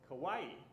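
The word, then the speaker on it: Kauai: So I learned is very easy because kawaii is so similar to Hawaii. Just replace H to K, right?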